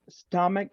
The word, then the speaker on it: stomach: Many combinations in English, letter C, when you talk about letter C, when you talk about spelling, letter C and H, they have the pronunciation K, right?